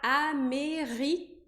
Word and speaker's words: américaine: Então, de an, que é o masculino, eu vou pronunciar aqui N, que é o feminino. E por que eu não pronuncio an se eu também tenho A e N? Porque o A e N, nesse caso, não estão na mesma sílaba.